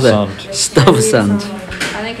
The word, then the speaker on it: Stuyvesant: How to pronounce that? Stuyvesant.